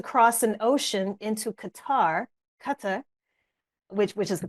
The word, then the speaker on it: Qatar: So here we are again about to cross an ocean into Qatar Qatar, which which is the correct pronunciation.